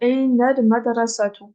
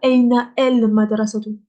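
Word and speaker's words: أين المدرسة: Du coup, on va dire Aina al madrasatu. Aina al madrasatu. Pas Aina el madrasatu. Ça, c'est faux.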